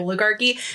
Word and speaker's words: oligarchy: think I'm like missing I finally because of this I'm pronouncing it right oligarchy I kept thinking I was missing a and going to sound stupid so I'd like make